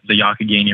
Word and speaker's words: Youghiogheny: we're focusing on in Fall City is the yaki Guinea River and so the yaki gaining River kind